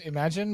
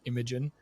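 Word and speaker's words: Imagen: May 2022 or imagine apparently it's pronounced imagine which makes a lot more sense because you know like you know anything you can imagine but I've been calling it Imogen well it's definitely spelled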